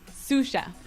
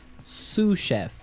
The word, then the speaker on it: sous chef: That brings us to our second word, sous chef. Sous chef. Sous chef. Sous chef. S-O-U-S. So the S is silent because it's like a French word.